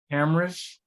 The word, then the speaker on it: Camrish: Camrish? Yeah, cameras with a C.